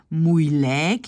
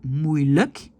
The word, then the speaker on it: moeilijk: fin de mot, on le prononce comme E, comme dans le mot le. Donc, on ne dit pas moeilijk, mais on dit moeilijk, gemakkelijk, dikwijls. D'accord? Donc, à la fin, pas dans tous les mots, mais voilà. Principalement, surtout le luk, à la fin, c'est luk et pas lijk. Parce que lijk, c'est un cadavre.